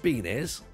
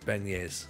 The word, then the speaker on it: beignet: And they're not called beanies. Oh, bene. Oh, right, okay. Oh, sorry. Sorry, it's pronounced beignets.